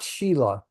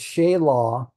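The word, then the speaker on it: Shelah: strong and then Shaya it's not Sheila it's Shaya and that would be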